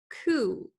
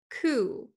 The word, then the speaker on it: coup: we have the word ku ku although it does end in a p the p is not pronounced and then we have